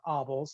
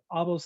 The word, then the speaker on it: Abel: an initial value problem abel's theorem right okay so so we had yeah it uh it's pronounced obvious theorem but yeah so um obvio's theorem where we could